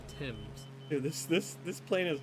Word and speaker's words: Thames: and that's the thames which i want to call the fames because that's how it's spelled but uh natives were quick to call were quick to correct me and say that it is called the thames this this this plane